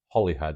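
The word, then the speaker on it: Holyhead: And Holy Island, where you find Holly head as we pronounce it, although it's spelled Holy Head, Holy Island is a Urius.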